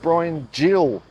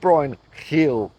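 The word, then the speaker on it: Bryan Gil: reliably informed me that it is in fact pronounced Brian Jill not Brian Hill so I mean I know Portugal isn't Spain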